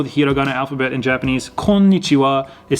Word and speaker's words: konnichiwa: at the end but you don't really pronounce the w really heavily in this almost like